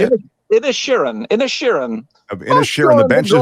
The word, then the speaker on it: Inisherin: Inisherin. Of Inisherin. The Banshees of Inisherin. Polish your Irish accent a little. It's an Irish thing.